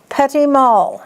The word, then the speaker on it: petit mal: It isn't pronounced like it looks. It's petit mal seizures.